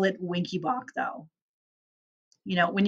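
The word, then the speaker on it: Wenckebach: boach his last name is winky boach that's pronounced winky boach it's also called mobitz one second degree type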